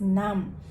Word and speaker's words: 何: be there you'll be this kanji can be pronounced as nam okay yeah let's review